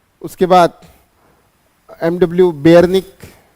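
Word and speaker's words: Beijerinck: की उसके बाद एमडब्ल्यू बेयर निक बेयर निक जे साइलेंट है ओके उसके बाद डब्लू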